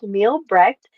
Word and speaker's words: Mielbrecht: Her name is Beth, and the last name is pronounced Mielbrecht, and she is a health detective.